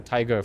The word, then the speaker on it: TIG: And the nice thing is, it's like the tiger for cybersecurity. TIG also rhymes with tiger.